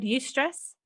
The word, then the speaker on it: eustress: And have you heard the word eustress? Eustress? Yes. Can you spell it? Yeah, it's spelled EU and then stress. Like European stress?